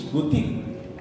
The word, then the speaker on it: Butig: Now, this is a mispronunciation. Bulasi is Barasi. Bulig is Butig.